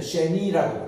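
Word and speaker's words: שני: 2, 둘이다 이런데 두 번째 할 때는 쉐니라고 그래요.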